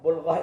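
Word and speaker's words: بُلْغَة: Berhati -hatilah saat membacanya. Ini berarti sangat berbeda. Jika balgha, balgha adalah puncak kebodohan disebut balghah. Namun jika disebut bulgha, itu adalah kekuatan untuk menanggung penderitaan dalam hidup.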